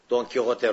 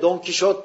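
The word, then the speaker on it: Don Quijote: diye sağ eliyle yazmıştır don kote romanını Yani biz Türkçede Fransız telaffuzu yla Don Kişot diyoruz onun Normal adı don kote zaten adı da Arapçadan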